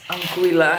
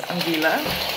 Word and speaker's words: Anguilla: I just found out, by the way, that you pronounce it as Anguilla and not as Anguilla.